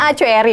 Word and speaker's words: Acoeri: Bacanya Acoeri, benar ya Pak ya?